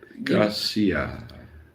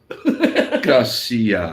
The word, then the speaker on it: gracias: Don't dwell on the ah. Gracias. Don't. Finish it. Gracias. Just say quick. Gracias. Not gracias.